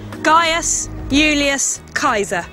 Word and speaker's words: Gaius Julius Caesar: And in fact, the way you pronounce his name is this: Gaius Julius Caesar.